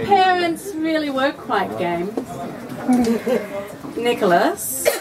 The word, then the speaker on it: Nicholas: Nicholas, as you know, it rhymes with us. But also class and glass and fast.